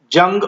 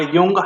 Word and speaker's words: Jung: 1900 published the book interpretation of dreams and this is C Jung or Yung however you want to pronounce as per your tongue suitability.